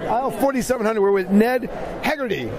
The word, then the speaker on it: Heagerty: We're with Ned Heagerty, right?